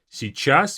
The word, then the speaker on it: сейчас: Сейчас means now. A very difficult part of this word is this si beginning. Сейчас. Сейчас. You can just simply say сейчас, сейчас, but you have to kind of add this little y there.